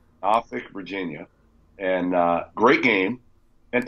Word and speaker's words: Norfolk: Little Marshall at ODU, had never been to, and it's pronounced, I want to make sure I get it right, Norfolk, Virginia. That's right. Norfolk, Virginia.